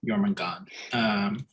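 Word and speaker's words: Jörmungandr: Apparently that's how you pronounce that name, Jomungandr.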